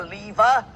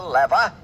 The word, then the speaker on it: lever: the six simple machines the lever or as some pronounce it the lever the incline plane the